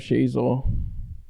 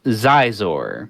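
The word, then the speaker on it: Xizor: There's not not the young reader version The only thing that the young reader added for me was the pronunciation of Shizor.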